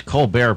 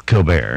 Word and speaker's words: Colbert: Why does Colbert pronounce it Colbert? Because it wasn't snooty enough the way it was born. It's Colbert.